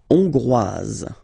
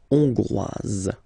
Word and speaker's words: hongrois: La Hongrie, hongrois, hongroise. Okay? Hongrois, grois, hongroise. Okay, so here final S not pronounced for the masculine form, and then you pronounce it here for the feminine form. Hongrois, hongroise.